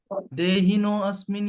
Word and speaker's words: देहिनोऽस्मिन्: ऐसे पढ़ेंगे हम, देहिनो, यहाँ पे अपोस्ट्रोफी लिखा है ना, तो इसे हम ऐसा पढ़ते हैं, ठीक है, तो देहिनो अस्मिन यथा, है ना।